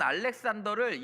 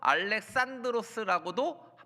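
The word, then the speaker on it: Ἀλέξανδρος: 알렉산더는 영어 발음이고 원래 알렉산드로스가 헬라식 원어 그리스어 발음입니다.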